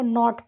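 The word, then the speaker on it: knot: अब देखो इसमें देखो यहां पे भी के को साइलेंट पढ़ के इसको नॉट पढ़ेंगे।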